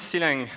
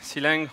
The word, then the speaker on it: Clang: So what is C-Lang? C-Lang or Clang or Clang, as you wish, you can pronounce that in many different ways.